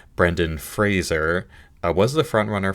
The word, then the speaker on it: Brendan Fraser: Colin Farrell her banshees Brandon Frazier for the whale Daryl McCormick good luck to you leogrand Paul meskel after sun and Bill Nye were living so realizing I mispronounced his name Brendan Fraser I was the front